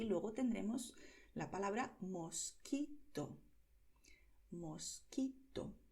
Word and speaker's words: mosquito: Date cuenta de que aquí la letra U se escribe pero no se pronuncia, ¿vale? En las combinaciones QUE y QUI en español la letra U es muda, ¿vale?